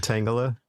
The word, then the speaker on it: Tangela: cuz I legitimately kept forgetting like what the pronunciation was. Oh, okay. Tang Tangala. Tangela. Tanga. It's Tangala, right?